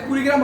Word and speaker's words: কুড়িগ্রাম: আসলে কুড়িগ্রাম হবে কি হবে? কুড়িগ্রাম। কুড়িগ্রাম মানে একটু হলেও বেশি জোর দিতে হবে, তাই কি না?